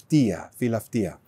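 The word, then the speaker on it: φιλαυτία: Philautia.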